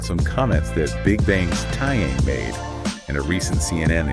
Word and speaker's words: Taeyang: be talking about some comments that big bangs tyang made in a recent CNN interview that's tayang right yeah tayang just for pronunciation exactly yeah it's it's always tricky with